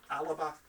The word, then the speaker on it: Alba: looney party super majority alba or pronounced alaba that's alex salmon's party